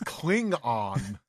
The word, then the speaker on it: Klingon: I don't think you pronounce the G. You definitely pronounced the G.